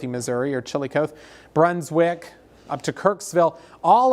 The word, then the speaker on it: Chillicothe: So Bethany, Missouri, there's plenty of activity down through north central Missouri, I think it's pronounced Chillicothe, Missouri, or Chillicothe, Brunswick, up to Kirksville.